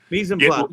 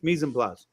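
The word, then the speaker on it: mise en place: Is it pronounced Spanish? Mispl. Let's get that right. It's French. Mispl.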